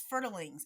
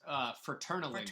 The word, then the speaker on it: Fraternalings: So what is fertilings? Am I even pronouncing that right? Uh, Close. It's fraternalings.